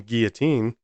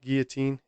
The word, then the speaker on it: Guillotin: any at the end I believe it's both pronounced Guillotine if I'm incorrect about